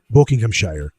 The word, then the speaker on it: Buckinghamshire: Cada británico te dirá que Buckinghamshire, Oxforshire y Bedforshire. Se pronuncian Buckinghamshire, Oxforshire y Bedforshire. La razón no es la pereza o el dialecto, es que la pronunciación de esos nombres se estableció antes del gran cambio de vocales, cuando Shi se habría pronunciado Shir.